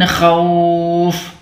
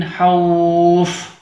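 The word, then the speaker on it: خوف: Kemudian kesalahan selanjutnya, saat kita membaca huruf kha, ada yang membaca dengan seperti huruf ha. Harusnya kha dibaca ha. Nah, ini tidak boleh ya. Ini huruf kha, cara membacanya seperti, maaf ya, seperti orang buang riak. Nah, seperti itu ya. Kha, bukan ha. Bedakan antara kha dengan ha. Jadi ini yang benar membacanya min khawf, bukan min hauf.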